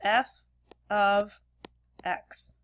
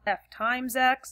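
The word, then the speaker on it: f(x): and look at this notation right here we pronounce this as f of x that's how you pronounce it it's not f x x it's not F parentheses x it's f of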